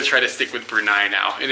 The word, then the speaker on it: Brunei: or berai and he said that it is brunai like the goat that we rented same name